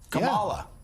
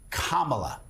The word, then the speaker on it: Kamala: They all deliberately mispronounce her name, Kamala. Yeah. Repeatedly, all the hosts, Kamala.